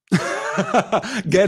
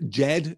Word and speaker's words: Ged: Ged has always been for me, says Karen, the authorization of the pronunciation of GIF. Yes, I have heard Jed too. I don't like Jed.